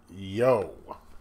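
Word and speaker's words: Yoe: edited and designed by Craig yo I'm assuming that's how you pronounce it y-o-e uh this it is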